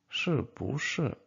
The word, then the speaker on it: 不是: 是不是？But this 是。And again, you have.This 不, just remember to change it to second tone when you pronounce it. But again, if you pronounce it separately, so you will pronounce it with the fourth tone, like 不. But in this particular case, you should change it because you have 是 after this, so it will be like 是不是.